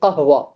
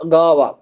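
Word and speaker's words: قهوة: அதே போல வந்துட்டு சம்டைம்ஸ்ல வந்துட்டு அதை எப்படி ப்ரொனவுன்ஸ் பண்ணுவாங்கன்னா காவாவும் ப்ரொனவுன்ஸ் பண்ணுவாங்க காஃபை. உதாரணத்துக்கு அரபில காஃபிக்கு வந்துட்டு என்ன சொல்லுவோம்? கஹ்வா. என்ன சொல்லுவோம்? காஃபிக்கு கஹ்வா. அதுல முதல் எழுத்து என்ன வருது? காஃப். அந்த காஃப் எப்படி ப்ரொனவுன்ஸ் பண்ணுவாங்கன்னா காவா.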